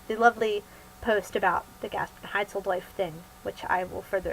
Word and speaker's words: Gasprenheitzeldojf: Okay, so the Gasprenheitzeldojf Affair, that is pronounced Gasprenheitzeldojf, it is how Nate and I met.